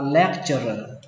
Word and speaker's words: lecturer: Giảng viên đọc là lecturer lecturer lecturer. Âm đây là âm chờ, mặc dù nó ghi là âm t nhưng mà chúng ta đọc là chờ, lecturer lecturer.